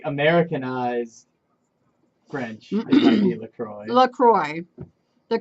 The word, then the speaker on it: LaCroix: I I call it la croaks but like it like Americanized French Lacroix the correct pronunciation is la CRO I as it it rhymes with enjoy know it's Lacroix it's